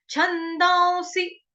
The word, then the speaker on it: छन्दांसि: क्योंकि जब भी अनुस्वार जो हो उसके बाद स या श हो तो उसका उच्चारण कैसे होगा, आधे व से होगा। ठीक है, आधा व ऊपर चंद्र बिंदु, उसकी तरह उसका उच्चारण होगा।